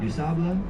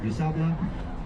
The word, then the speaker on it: Du Sable: A person named Jean-Baptiste Point du Sable. Jean-Baptiste Point du Sable. I'm so sorry if you speak French. I'm working on it. But in Chicago, his name is always pronounced Du Sable by locals.